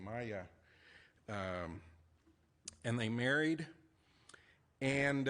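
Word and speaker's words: Maja: And that's pronounced Maya, m a j a, Maya.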